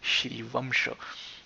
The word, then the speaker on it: Shrivamsha: m before the show you have to make it nasal just like we do it in french is also valid because the shri washer pronunciation is in the classical language sanskrit or sanskrut as we call it and if you are a native hindi speaker you would pronounce this as shrivamsha gurjar's of course uh